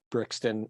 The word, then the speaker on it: Brixton: I'm always jealous because they're in places like Brixton is that how you pronounce it yeah they're always in like Brixton